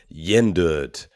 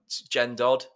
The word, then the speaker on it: Gjendød: Today we are talking Yender uh veels Norwegian. I like how you pronounce that.